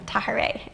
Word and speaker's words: Tahirih: And for those of you who are wondering kind of how to pronounce that, just imagine saying hooray with a ta. And then Tahirih.